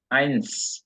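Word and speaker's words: eins: এবার একজনকে জিজ্ঞেস করব রাহাত ভাই জি আপনি উচ্চারণ করেন এক থেকে 10 পর্যন্ত আইন আইনস এস আছে কিন্তু লাস্টে আইন্স আইনস রিয়েট না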